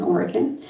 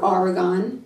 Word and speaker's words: Oregon: She loves apples and grows them in Oregon, or as I used to say in New York, Oregon. We didn't know how to say it.